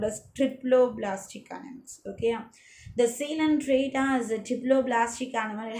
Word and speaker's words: Coelenterata: This is pronunciation is Coelenterata. Okay, a Coelenterata, COE. That is not a Coelenterata, it is a Coelenterata. Okay, this is the correct pronunciation.